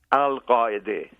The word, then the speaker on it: Al-Qaeda: branch called Al-Qaeda, or as you pronounce it, Al-Qaeda. It's funny, we've had 4 presidents in the White House and not one has been able to pronounce the name properly. And give us the proper pronunciation again. Al-Qaeda.